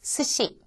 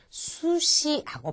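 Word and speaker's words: すし: 자, 세 번째 나와 있는 것은 조금 아까 제가 설명을 드렸던 것 같은데 스시. 초밥입니다. 그쵸? 초밥을 나타내는 스시가 나왔는데 이때 수시하고 발음하지 않도록 조심하시고요.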